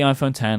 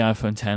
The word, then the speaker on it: iPhone X: you wanted to but no it is the iPhone 10 and I will call it the iPhone 10 and I all endeavor to call it the iPhone 10 for as long as the antenna exists because